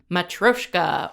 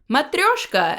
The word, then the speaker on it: matryoshka: today we're discussing season six episode ten entitled matroyshka or matryoshka as you're actually supposed to pronounce it Russian doll now streaming on Netflix